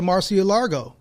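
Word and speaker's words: Mar-a-Lago: a republican like you got to go to marcia largo is that what am i pronouncing that right mark yeah you are velvet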